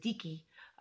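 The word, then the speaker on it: dike: Theo Theo's and Vicki or we pronounce it deaky which is kind of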